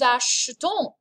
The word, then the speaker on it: achetons: And this is pronounced nous achetons, vous achetez. There's an e, it's barely perceptible. Achetons. Acheter, if I exaggerate it, but really you just kind of gloss over that vowel sound.